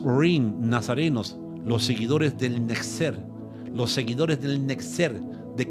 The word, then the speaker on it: Netzer: Nexer, así se escribe el cumplimiento esio y el nacimiento del movimiento nazareno.